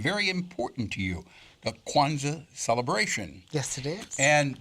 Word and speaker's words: Kwanzaa: This being the day after Christmas, it also is the first day of Kwanzaa. I pronounced it right, didn't I? Yes, you did. Kwanzaa.